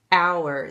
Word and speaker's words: hour: hear me say Howard it's our the HS silent this is like the